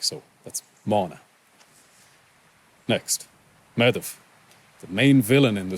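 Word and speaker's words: Medb: Mana the mother like so that's Moana next madhav the main villain in the story really she's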